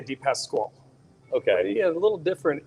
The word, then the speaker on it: DePasquale: natalie italian yep okay so it's pronounced i say a d-pass squall okay yeah a little